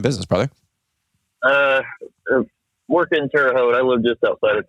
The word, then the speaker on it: Terre Haute: brother uh work in terot I live just outside of terot um and a lot of people have a hard time pronouncing that the way it's spelled but it's pronounced terot uh but yeah I